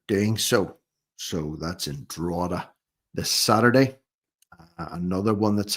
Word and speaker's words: Drogheda: The first one of which is in Drogheda. Yeah, I've got the pronunciation down now. Drogheda.